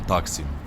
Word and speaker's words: Taksim: И, кстати, да, друзья, везде, конечно, все привыкли Таксим, и все будут спорить и с пены у рта доказывать, как в турецком языке все ставится на все ударения на последний слог. Но, когда вы сами сядете в метро, либо в автобус, и вы сами своими ушами услышите «Геледжек Истасьон Таксим». Ну, поэтому и я тоже